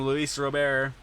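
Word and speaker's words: Luis Robert: ball from leis Rober that's how you say his name Luis Rober and Luis Rober is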